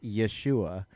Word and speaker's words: Yeshua: It's essentially more accurately pronounced Yeshua is the name from the ancient text, right?